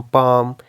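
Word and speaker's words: palm: आ जाए तो उस केस में भी एल प्रोनाउंस नहीं होगा, काम, पाम, टॉक, इस तरह के वर्ड्स।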